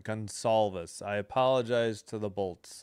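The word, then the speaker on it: Gonçalves: Gonalvis. Okay, so the C is an S. I'm sorry. My mistake. Gonalis. C is an S sound. All right. Gonolvus.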